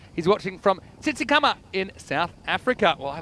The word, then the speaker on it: Tsitsikamma: He's watching from Tsitsikamma in South Africa. Well, I love South Africa. Say it again. Tsitsikamma. Okay. No clicks in it, so I handled it all right.